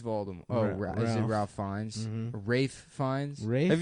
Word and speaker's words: Ralph Fiennes: Ralph Fiennes? Mhm. Rafe Fiennes? Rafe? Have you've seen Yeah. Schindler's List? Yeah, I have. Somebody told me it's pronounced Rafe. Rafe Fiennes.